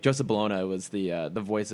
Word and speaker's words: Bologna: joseph well i mean it's spelled like bologna i don't think his last name actually pronounced baloney but like joseph balona was the uh the